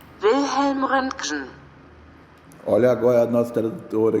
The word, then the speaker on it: Röntgen: Wilhelm Röntgen. Wilhelm Röntgen. Olha agora a nossa tradutora aqui no português. Wilhelm Röntgen.